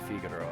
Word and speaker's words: Figaro: No, it's definitely Figaro, I guess, but I will say Figaro a lot because when I was a kid, that's how I pronounced it.